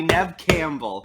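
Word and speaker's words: Neve Campbell: four corners to punish you for saying her name wrong okay i'm gonna attempt it one more time everybody nev campbell yeah campbell for the win the other thing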